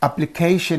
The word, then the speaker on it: application: rule right this is words ending in ion have the primary Accent on the syllable preceding the suffix now I'm going to